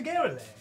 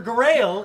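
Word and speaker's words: Garaele: To Sister Garrelay or Garael. Garael? I've run this campaign so many times, and I know how it's spelled, but I always pronounced it Sister Garrelay. So, Sister Garael is her name, though.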